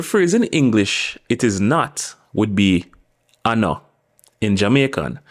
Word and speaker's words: nuh: The first word we're going to look on in how we negate is the word no. Not na, which is a common mispronunciation by people who are learning Jamaican, but no.